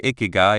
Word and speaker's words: Ikigai: Icky say it like I think of icky guy as your reason for being here or simply your reason to wake up in the morning with a happy heart.